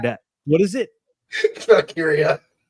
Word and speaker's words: Valkyria: Lyra Valkyrie defeated Dakota Kai. Probably butchered that. What is it? Valkyria.